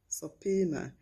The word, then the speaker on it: subpoena: fitters not photos finally here i have subpoena sapina if you learnt anything new continue to like